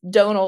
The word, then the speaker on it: Donal: Spelled Donal like tonal, which is the same as the way that Donal's name is spelled.